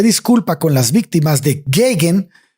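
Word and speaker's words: Geoghan: Entonces es Geigan, se pronuncia Geigan ese Yo apellido. lo he escuchado pronunciado como Geigan, pero Tú no sabes más soy inglés experto. que yo, voy a decir Geigan.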